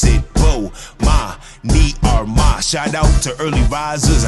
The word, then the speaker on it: Bomani Armah: announcements imma say my name so you can pronounce it whoa ma me are my shout out to early visors I see who